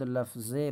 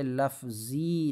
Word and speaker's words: لفظ: بر یک معنی۔ مفرد لفظ باشد، یہ لفظی نہیں پڑھیں گے، لفظ پڑھیں گے، لکھا یہ